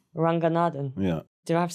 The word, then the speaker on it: Ranganathan: How do you say Romesh Ranganathan, but in like a Tamil way? Ranganathan. Ranganathan.